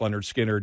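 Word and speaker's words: Lynyrd Skynyrd: skard fan I mean especially pronounced Leonard skinnard yeah Street survivors also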